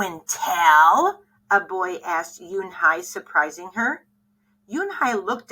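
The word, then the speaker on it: Unhei: no Yoon Hai corrected it's spelled u n h e i it's pronounced Yoon Hai oh it's you hey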